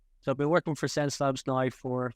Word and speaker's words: Xencelabs: So it's spelled with an X, as you can see here on the t-shirt, but it's like your 5 senses. So it's pronounced Sense Labs.